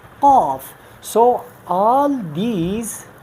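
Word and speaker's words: ق: Here is you can say a density in your sound, qaf.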